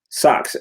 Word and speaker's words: SX: Socks. So SX is actually short for SOX, socks, right?